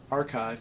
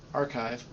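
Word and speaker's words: arXiv: had right uh and archive is actually spell no one would ever think it's that's how you pronounce it uh but any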